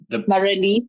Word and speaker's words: Marelize: Hi, Marelize. Is that the proper way of pronouncing it? Marelize, yes, that's right. The proper South African way.